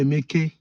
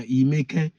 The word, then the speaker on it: Emeke: My name is Emeke. Exactly. Emeke, but the same thing as Emeka. Emeke in our language is now Imeke. Emeka, Imeka, Imeke.